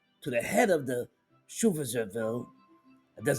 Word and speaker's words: Schutzstaffel: Oversight of the Gestapo passed to the head of the Schutzstaffel, that's how we pronounce it, Heinrich Heiner, who was also appointed chief of the German police by Hitler in 1936.